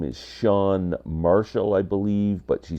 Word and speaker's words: Chan: singer songwriter is um her real name is sha Marshall I believe but she spells Shan c h an like Chan but it's pronounced sha um I first became aware of